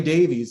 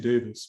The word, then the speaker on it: Davies: The Beatles had a guy by the name of George Martin, whereas Ray Davies actually, or Davis as I think they pronounce it. Americans always I've been saying it wrong the last 20 years.